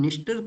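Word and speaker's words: Dniester: है जिसको कि हम निस्टर के नाम से जानते हैं। जिसको कि किसके नाम से जानते हैं स्टूडेंट्स? निस्टर के नाम से जाना करते हैं। ई यहां पे साइलेंट है।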